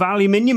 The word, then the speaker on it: aluminium: So then you may have noticed this sheet of aluminium in the background. That's right. That is the right way to say it.